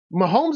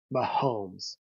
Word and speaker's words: Mahomes: Mahomes is almost 3 syllables, though. Mahomes. Like it's a long syllable.